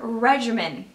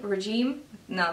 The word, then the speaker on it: regimen: So that is pretty much my skincare regimen. That's how you say it, right? Regime? No, that'd be like, no. Okay, regimen.